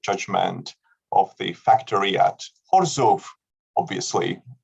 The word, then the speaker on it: Chorzów: of the factory at Chorzów. Obviously, we all pronounce it in correct Polish terms, no Chorzów for us, and something that has